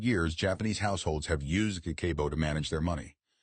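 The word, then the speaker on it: 家計簿: Pronounced kakeibo.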